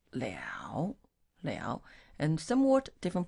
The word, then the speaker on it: 了: Le has two pronunciation. This word, should I say, two pronunciation is le and it's liao.